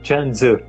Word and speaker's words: Chuang-Tzu: E então, Chuang-Tzu, a pronúncia é Chuang-Tzu, né? A pronúncia chinesa desse autor, né?